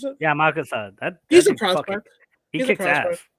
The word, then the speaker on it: Amakusa: Amakusa, Benel, is that how you pronounce it? Yeah, Amakusa.